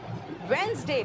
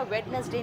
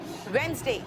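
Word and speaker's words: Wednesday: Monday, ट्यूसडे, वेंसडे, बेटा वेडनेसडे नहीं बोलते, वेंसडे, थर्सडे, आर साइलेंट है,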